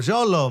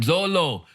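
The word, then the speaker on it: Xolo: I can't pronounce it how do you pronounce that XO l oh Zolo man Zolo now Zolo is the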